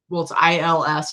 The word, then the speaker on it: Ils: I think it's ILS.